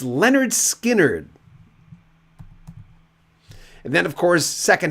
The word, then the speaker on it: Lynyrd Skynyrd: first one in 73 pronounced Leonard Skynyrd and then of course